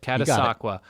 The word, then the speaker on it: Catasauqua: Notre Dame comfortably distanced itself from Catasauqua. How do you say that? You got it. Catasauqua. We call it, it's Catasauqua, but it's Caddy.